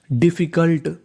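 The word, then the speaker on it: difficult: English का एक rule होता है कि कोई भी लेटर यानी कोई भी अक्षर अगर 2 बार लिखा है तो उसका उच्चारण खाली 1 बार करना है। कहने का मतलब यहाँ पर F 2 बार लिखा है लेकिन पढ़ना केवल 1 बार है। तो मीनिंग बनी DIFFI, डिफी, CULT, कल्ट, डिफिकल्ट।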